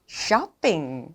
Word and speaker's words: shopping: 쇼핑이 아니고 정확한 영어 발음은 shopping.